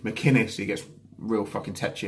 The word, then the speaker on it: McInnes: It's a hard C. McInnes, he gets real fucking tetchy about that.